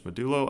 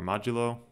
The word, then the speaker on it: modulo: ways to do this there's medullo assignment or modulo depending on how you want to pronounce it and there's dynamic assignment